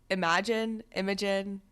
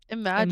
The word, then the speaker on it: Imagen: Is it Imogen? Imagine, Imagine.